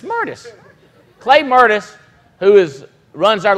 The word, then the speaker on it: Mertes: Mertis. It's Mertis.